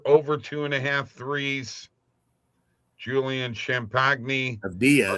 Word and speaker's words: Avdija: Avdija? Yeah. Under 1.5. Jabari Smith under 2.5 threes. Sam Hauser over 2.5 threes. Julian Champagne. Avdia is actually how you pronounce it.